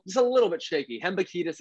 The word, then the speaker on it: Hembekides: Hembukidis is how it's pronounced.